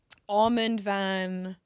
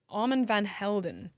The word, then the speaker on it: Armand Van Helden: really liked, I like Armand, I pronounced his name wrong. Armand Van, let me get the pronunciation right. Wait, Armin van Buren? Armand Van Helden.